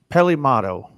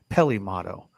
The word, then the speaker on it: Peli Motto: here Ralph's got us Pele motto and I think it's pronounced a little different Peli Peli motto yep that's her dope